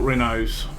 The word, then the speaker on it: Renault: So we are driving another Renault. Or Renault, how you pronounce it. We call it Renaults over here, even though it's spelt with a T on the end.